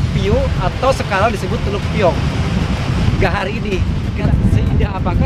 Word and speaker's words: Piong: Tapi pelafalan di sini disebutnya tambah eng, Piong.